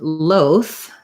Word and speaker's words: loath: Yes, so as I suspected, loath, maybe my sound isn't on, has this, you can see this symbol here, that's for the voiceless TH. So just like both, loath has the voiceless TH,